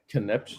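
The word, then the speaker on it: Concepcion: Conception.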